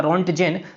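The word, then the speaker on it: Röntgen: X ray से हमने याद रखा है रोंटजेन है, ऐसे इसका इनका प्रोनाउंसिएशन होगा, रोंटजेन।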